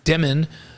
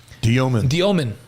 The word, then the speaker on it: Demin: And last week he announced the right way to say his last name instead of Demin. Igor said it's Diomin. That's how you say it in Russian, right?